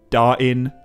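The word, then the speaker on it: Dáin: example, often pronounced it Dane and Bane. But given the available evidence, I think the consistent way to pronounce these names is like Dwalin or Balin, just without the L. Dain and Bain.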